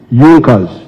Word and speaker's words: Junkers: However, there was a strong business group in Prussia known as Yonkers. It is written junkers but they pronounced pronounce it junkers that saw the importance of a united German market.